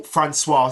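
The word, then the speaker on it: François: pronunciation for Fran's name they call it in both in both Japanese and English they go franois so that's again I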